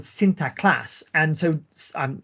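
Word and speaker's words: Sinterklaas: class and so on my my Dutch pronunciation is not very good obviously sinter class right um and of course you all you can already hear when I say that that it sounds very similar to Santa Claus Santa Claus is just the anglicized the anglicized version right it's the anglicized pronunciation of sinter class and symptom Classics itself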